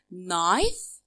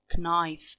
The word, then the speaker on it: knife: and add s okay let's see the exact knife knives okay here is silent i can say it okay knife i will knife knife knives life s